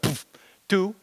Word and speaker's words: PBKDF2: Easy to remember, you just pronounce it like poof, two, and that's just, you know.